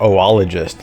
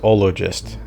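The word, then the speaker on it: oologist: On previous streams, I think I pronounced it as like ologist, like taking the French O and doing ologist. um you know as the standard uh Greek uh concatenation, but then I heard in this game it pronounced oloist and I was like, "Oh, okay.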